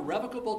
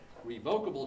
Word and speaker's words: revocable: So there are revocable trusts and irrevocable trusts, or revocable trusts and irrevocable trusts. And if you look in the dictionary, both pronunciations work. There are lawyers constantly arguing about how to say that. They both work.